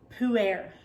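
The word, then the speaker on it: Pu-erh: to talk about is poo air and yes it does sound just like you think it sounds poo air that's how you say it it is not how it's spelled and but it is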